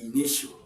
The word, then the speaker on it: initial: Okay, now as it is a suffix, we have 1, 2, 3, and we stress at the second syllable. Now ini, now we stress e, ni, shell.